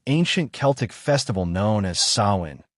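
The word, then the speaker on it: Samhain: Long before Halloween was called by that name, it began as an ancient Celtic festival known as Sain, pronounced Suin, the Selts, who lived in what is now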